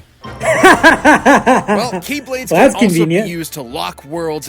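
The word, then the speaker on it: χ-blade: he means the x-blade it's just pronounced like keyblade even though it's just one keyblade ah the series is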